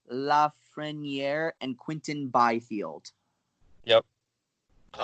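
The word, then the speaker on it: Lafrenière: figured out yeah yes it looks like the tongue consensus is Alexis laughs friend year and Quinton Byfield yep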